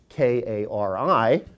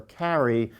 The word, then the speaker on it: Kari: mother my mother-in-law is k-a-r-i pronounced Kari do not call her Carrie she really does care